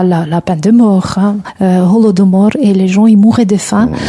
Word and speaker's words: Holodomor: Holo de mort avec H, on ne prononce pas.